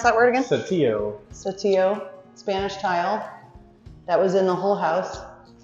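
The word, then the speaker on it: Saltillo: This is the, how do you pronounce that word again? Satillo.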